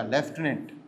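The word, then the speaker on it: lieutenant: ओ एन A colonel एक left भी होता लेफ्टनंट स्पेलिंग हो एल आई ई यू टी ई एन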